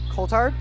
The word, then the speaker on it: Coulthard: out to number five that'd be alexander coulthard believe that's how you see coldheart coldhard yep thank you jess always